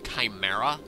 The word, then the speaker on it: chimera: or Chimera I get I always said chimra but apparently it's properly pronounced Chimera so I will be